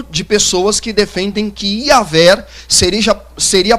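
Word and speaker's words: Iavé: Outras pessoas acreditam que a pronúncia exata do nome de Deus é Iaver, né, ou Iaver, né? Então, existe um grupo de pessoas que defendem que Iaver seria a pronúncia mais exata do nome de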